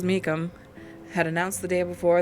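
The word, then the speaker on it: Meecham: uh Mrs me Meacham her name is spelled m-e-e-c-h-a-m Mecca Mecum Mrs Mecum had announced the day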